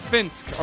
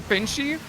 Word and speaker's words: Finsk: And wait, so this man's name is pronounced what? Renshiro or Finsk? Finsk. Okay, good. I don't know. Well, because you started saying Finchie, and I was like, wait, No. Surely that's not how you're supposed to pronounce this name.